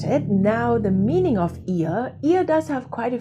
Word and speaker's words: ihr: online first of all the pronunciation of ihr is here it sounds like my ear not my nose needs a little bit